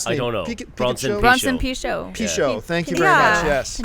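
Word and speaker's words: Pinchot: How do you pronounce his last name? I don't know. Bronson Pichot. Pichot.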